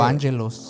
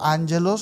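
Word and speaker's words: ἄγγελος: O ángelos. O ángelos o angelos, como se pronuncia, pues, ¿no?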